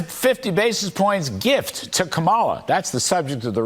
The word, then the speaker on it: Kamala: So the Fed's 50 basis points gift to Kamala. That's the subject of the riff. All right. First off, it's Kamala. Not Kamala.